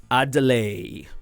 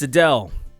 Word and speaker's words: Adele: boy Adele Adele Adele I delay I think well that's kind of how it's spelt right like a delay but it's Adele she uh this is